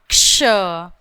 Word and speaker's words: क्ष: आप करेक्ट इसका प्रोनाउंसिएशन कर सकते हो, उसको ठीक से बोल सकते हैं, क प्लस श क्ष।